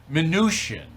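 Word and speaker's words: Mnuchin: by the Treasury Department manoosh in right that's that's how you say his name venusian right the Charter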